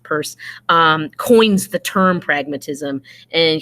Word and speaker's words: Peirce: more modern term people purse looks like Peirce but it's pronounced purse coins the term pragmatism